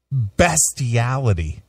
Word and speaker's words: bestiality: Who knew there was so much bestiality?